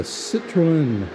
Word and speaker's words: Citroën: And we have a Citroën. I'm putting too many syllables in.